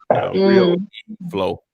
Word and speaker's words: RealeFlow: It's I call it Flow, but it's like Really Flow. That's how it's spelled. Like real. REALEFLOW. Real Flow.